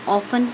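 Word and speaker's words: often: इस्तेमाल है वह अक्सर ऑफें पढ़ते हैं टी साइलेंट होता है अक्सर वह क्या नतीजा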